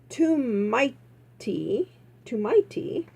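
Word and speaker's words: tomte: He trumped and pronounced, oh, here it is, "Too mighty," he said. Okay, so that's pronounced too mighty. It looks like trumped. Anyways, I'm glad it's not trumped.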